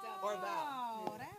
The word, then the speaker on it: Orval: Yeah, on my Instagram bio, I have it in the bio how to pronounce it. OR-VOW. There you go. Orval.